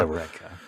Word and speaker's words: Eureka: What you would pronounce it like in Greek, right? Yes. Like Eureka.